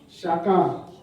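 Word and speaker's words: שקר: Ça s'écrit S-H-A-Q-A-R. Shakar.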